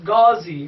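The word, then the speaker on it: غازی: First the pronunciation, this is Ga, this is Z, this is Ghazi, means warrior, means a knight.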